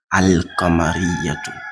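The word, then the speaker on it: القمرية: So let me pronounce it again and you see Al-Qamariyatun. So you see I'm saying the lam is out. It's pronounced, it's heard.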